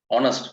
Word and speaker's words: honest: On the left side, honest. First one is honest. Now, although that word starts with H, we don't pronounce it honest. We pronounce it honest.